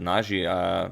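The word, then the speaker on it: Nazí Paikidze: Now, okay, some pronounce it Nazi, some pronounce it Naji. Yasser pronounces it Naji, so I don't know who to believe, but I'm sure you will all correct me in the comments as usual.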